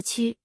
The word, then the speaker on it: 曲: 取作姓氏时读作屈，出自姬姓。